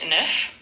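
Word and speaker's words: neuf: Nerf, and it's spelled NE UF.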